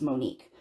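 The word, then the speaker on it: Monic: Oh, okay, so she spelled it M-O-N-I-C, and then she pronounced Monique.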